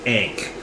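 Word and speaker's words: ankh: sized image of an ank. You know, is that how you pronounce it? Ank ank a n k. Yeah. A n kh or ank. I think it's ank.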